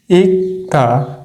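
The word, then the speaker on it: 읽다: কি অফ দা তাহলে এটার উচ্চারণ কি হবে ইক্তা ইক্তা এটা কিন্তু ইক হবে না এটার রুলস আছে এর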